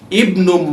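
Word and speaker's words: ابن: The word Ibnu begins with the Hamza, Hamzatul Wasl, and this Hamza is to be pronounced if it begins a sentence. That's why we have Ibnu Man Anta.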